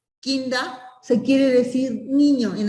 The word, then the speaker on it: Kinder: O sea, kinder en alemán, o sea, no se dice kinder, o sea, la terminación ER en alemán se pronuncia, o sea, es kinda, se quiere decir niño en alemán.